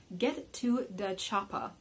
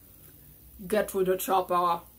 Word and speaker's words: Get to da Choppa: at a game called Get to the Choppa. Oh, pardon me, the designer told me it's properly pronounced Get to the Choppa. Sorry, that's my best Arnold Schwarzenegger impersonation.